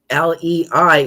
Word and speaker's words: lei: L EI is lei like in Hawaiian lei.